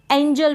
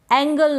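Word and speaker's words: angel: इसको एंजल पढ़ें। क्या पढ़ें? एंजल। अगर आपने जी के उच्चारण के नियम सीखे हैं, तब आप कभी भी इस एंजल को एंगल नहीं पढ़ेंगे।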